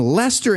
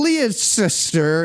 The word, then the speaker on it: Leicester: So David Icke was born in Leicester, England in 1951. I believe that's pronounced incorrectly. He was born in Leicester, England.